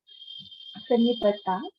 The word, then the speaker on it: Sanipataj: It's a Sanskrit name, but if you want, I'll give it to you. Sanipataj, the pronunciation. Vagvarji says Sanipataj.